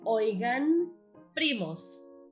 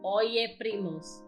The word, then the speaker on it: Oigan primos: of cousins, it's actually Oigan primos. Yes, That is exactly how you write it. The correct pronunciation is oigan primos and not oye primos. It does not even sound good.